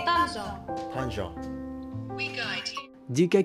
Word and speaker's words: Tangier: in Morocco we say Tangier.